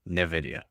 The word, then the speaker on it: NVIDIA: Still, I still spell it as NV, but I say NVIDIA.